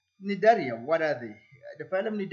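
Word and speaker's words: Cnidaria: group the phylum netaria I know this is silent I I science words just confuse me as well but it's it's written as Nigeria so nidaria what are the the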